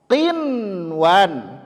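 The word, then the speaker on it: قنوان: Kemudian bunyan, bunyan, qinwan, qinwan, sinwan. Semuanya dijelaskan cara membacanya, izharkan dia.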